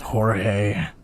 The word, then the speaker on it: George: The new guy's name was George. I noticed when the anarchist said his name, he said it with a thick It's Belgian. pronounced Jorge.